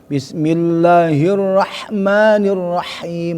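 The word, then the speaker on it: بسم الله الرحمن الرحيم: Bismillahirrahmanirrahim. Nah, itu jangan bismillahirrah mairrahmanirrahim.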